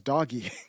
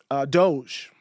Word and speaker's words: Doge: For a while, I thought it was doggy. I didn't know how to pronounce it. I saw Doge and I was like, doggy, Doge? I don't know what it is.